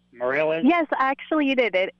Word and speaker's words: Mirelez: Can you please tell me the correct pronunciation? Did I say it right? Mirelez? Yes, actually you did. It is Mirelez. Most of the time I actually get Mirelez, but you did say it correct. It's Mirelez.